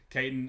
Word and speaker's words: Caton: Katton, I'm going to try so hard to overcome my southern accent and properly pronounce the T's in your name, not Kaitton Bitner.